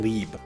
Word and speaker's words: Loeb: who are leopold and lieb alex trebek told her her response was wrong but barbara clapped back leave is just the german pronunciation of loeb trebek being the kind-hearted